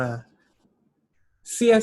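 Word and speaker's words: 谢谢: ว่า ขอบคุณ นะ ครับ ไม่ ใช่ เสื้อ ๆ นะ ครับ อ่าน ออก เสียง ว่า เสีย นะ ครับ คำ ที่ สอง นะ ครับ จะ อ่าน ออก เสียง เบา นะ ครับ คำ ต่อ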